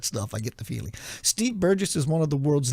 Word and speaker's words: Burgess: radio today Steve Burgess he said it's a soft G not a hard G it's a soft G Steve Burgess he was I was